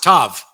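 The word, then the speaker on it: ת: of the Hebrew alphabet the letter tao is is pronounced tav it's the 22nd letter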